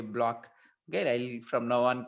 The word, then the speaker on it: Bloch: Okay, so people are pronouncing it, I think, not bloch. I was using bloch in my recording, but it looks like it should be a block.